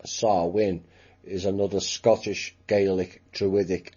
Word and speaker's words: Samhain: which is not exactly pronounced that way it's pronounced sarwin sexual and blood rituals and it involves sexual